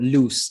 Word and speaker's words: Luce: Am I pronouncing it right? Luce, I think. Luse. I think it's Luce. Brittany Luce.